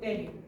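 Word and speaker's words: pterion: Está el punto craneométrico tero. Se escribe con P.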